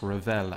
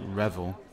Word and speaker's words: Revel: here so ravel and it is pronounced ravel as opposed to revel um if it was the english without the accent it would be revel but as it's got the accent on the e it is a ravel you know